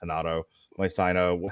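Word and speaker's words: Renato Moicano: Rafael dos Anjos versus I think it's actually pronounced Hanato Moicano.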